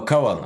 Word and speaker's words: Kanwal: Oh, the N is silent. It's Kawad. Oh, Kawal.